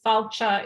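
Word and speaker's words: fáilte: landscape there um yeah South chalk it's spelled f-a-i-l-t-e falcha is welcome and you cannot stop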